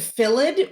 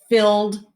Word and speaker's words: filled: here some words um somebody said philid which makes perfect sense because some words do end like that but that's not how this is pronounced so it's fill filled filled they filled the